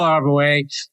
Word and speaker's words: Arbouet: It's Arbouet, the host and creator of The Quidditas Factor.